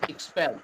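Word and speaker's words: expel: কিন্তু মহিলাদেরকে বিরক্ত করলে if teach এক্সপেল এক্সপেলড এক্সপেলড বহিষ্কারা এক্সপেল এক্সপেলড এক্সপেলড বহিষ্কার করা এটার উচ্চারণটা সরাসরি এ না হয়ে একটু ই এর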